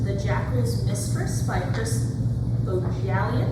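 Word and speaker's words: Bohjalian: The first read-alike I have is The Jackal's Mistress by Chris Bojalian. I believe is the correct pronunciation. At least say that's how it was in the audiobook.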